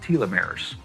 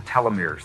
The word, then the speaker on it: telomeres: DNA that are called telomeres or telomeres they're pronounced both ways they become brittle as